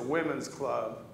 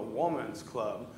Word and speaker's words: Woman's Club: I pronounced it as the Women's Club in the first service. And Kay let me know it's called the Woman's Club because one woman started it.